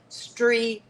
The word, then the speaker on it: Strié: That's spelled S T R I E, but there is an apostrophe and it's pronounced stre.